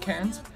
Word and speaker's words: Cairns: at our hotel, and she did say that it's pronounced Cairns. It's just when you have the Australian accent, it sounds different, and I thought I was mispronouncing it.